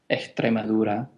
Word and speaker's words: Extremadura: that they do is they drop a lot of s's so extrema doesn't is not pronounced as such it's more like exura and they drop a